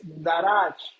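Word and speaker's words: דרש: Esta palabra, hermanos, inquirir, viene de una palabra que es darach, con acento en la segunda A.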